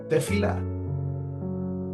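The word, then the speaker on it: תפילה: Se pronuncia tefila.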